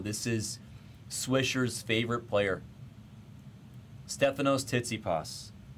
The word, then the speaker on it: Stefanos Tsitsipas: Stefanos Tsitsipas. Pronunciation is correct.